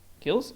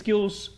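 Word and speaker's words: Gilles: And I'm gonna place him over here because it's Gills? Is it Gills or Gil? How do you pronounce that? I assume Gills. Gilderay. whatever. It's Gills.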